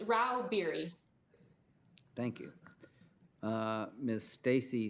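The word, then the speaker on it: Rauh-Bieri: yes chairman i'm here how do you say your name ma'am it's rao beery thank you uh miss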